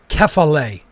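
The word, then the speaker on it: κεφαλή: greek characters okay so you pronounce that kefale in greek and that means head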